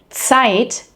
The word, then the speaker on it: Zeit: Like for example, here, in Zeit, meaning the time, versus seit, meaning since.